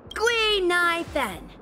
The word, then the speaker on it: Gui-Nai-Fen: Gui-Nai-Fen. Gui means fine wood, Nai means to exist, and Fen means fragrant.